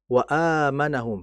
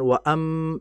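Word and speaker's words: وَآمَنَهُم: Kemudian wa amanahum. Jangan waam. Tidak. Karena setelah hamzah itu ada alif. Wa a. Jadi baca panjang.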